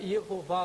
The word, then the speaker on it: Yehová: Eles colocam um Y, um E, H, vogal O, V, A, H. Jeová. Ficaria Yehová ou Yehová, como alguns pronunciam.